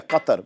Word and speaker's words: Qatar: happening in equate or cut sorry yes thank you for correcting me pronouncing it properly like a Muslim I've heard I've heard